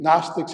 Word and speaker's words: gnostics: focus was knowledge interesting gnostics has a silent g and knowledge has a silent k but that's english not